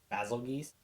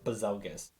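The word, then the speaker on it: Bazelgeuse: him his actual name people pronounce it two ways I've heard it either basil geese or bazelgus I was like bizarre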